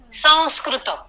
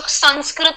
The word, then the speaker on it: संस्कृत: सिंह, संरचना, अंश, हंस, संस्कृत. ओके. देखिए, इससे उच्चार क्लियर होता है. कुछ लोग संस्कृत कहते हैं, संस्कृत कहते हैं. That is wrong. आप होठों को जोड़ रहे हैं संस्कृत में, तो वैसा उच्चार गलत है.